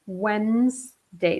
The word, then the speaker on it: Wednesday: though you write Wed nast day but you pronounce it Wednesday the D here the e D here is